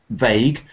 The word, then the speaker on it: vague: so when you say vague um try not to slip it so when you start it don't slip it into a w so this is a